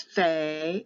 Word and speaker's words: Fe: with the letter p when there's a dot in it it has the hard sound of a p and it will be pay or pay with an h or without an h when they take the dot out it becomes fe or pha with an f or ph it sometimes can be